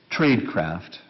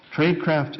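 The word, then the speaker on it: Traidcraft: a second example from a very different field tradecraft and I'll just spell that for those of you trade t r a i d craft CFT tradecraft is a christian-based organization committed to using trade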